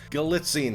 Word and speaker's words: Galitzine: Like Anne Hathaway and Nicholas Galitzine or Galitzine. I'm terrible at pronouncing names. Galitzine sounds right.